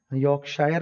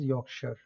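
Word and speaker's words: Yorkshire: रहता है, जैसे कि योर्कशायर। क्रिकेट में जो लोग इंटरेस्टेड है उन्होंने जरूर इस तरह की काउंटीज के नाम सुने होंगे। यॉर्कशायर लिखा हुआ है लेकिन इसकी प्रोनाउंसिएशन इज यॉर्कशायर, यॉर्कशायर, ठीक है जी।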